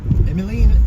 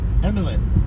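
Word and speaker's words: Emeline: right this time right emiline it's emilyn Emil Emil Emil it's a French French name there Emina mer welcome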